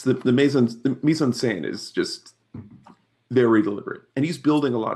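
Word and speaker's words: mise-en-scène: in a good spot yeah it's it's the meon Mison s is just very deliberate and he's building a lot of these sets excellent pronunciation of misen because often struggles with that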